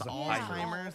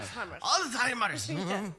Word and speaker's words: Alzheimer's: It's Alzheimer's. Yeah. Pronounce the Z. Very German. Yeah. Alzheimer's.